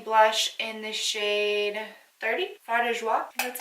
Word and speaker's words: Fard de Joie: This is the Maybelline Fit Me blush in the shade 30, Fard de Joie.